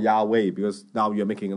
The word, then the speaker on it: Yahweh: then he says that, the first character should be pronounced as Ya. 为什么呢？ Why? 因为这是哈利路亚那个亚， Because that is related to the Ya and in Hallelujah.